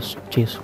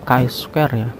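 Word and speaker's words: Chi-square: C Square gitu ya kalau anda membacanya lebih banyak dibaca c s tapi sebenarnya k s yaacanya nah k s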